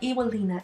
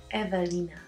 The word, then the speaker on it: Ewelina: I say it's not Ewelina, it's Evelina. They're like, Evelina, there's no V, there's W. I said, I know, because I am from Poland, and in Poland, W is pronounced as V.